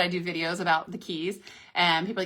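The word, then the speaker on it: Cay: Ocean uh Key MSC's um Perfect Day at Coco K. Oh my god. And that one drives me crazy because C A Y is actually pronounced key.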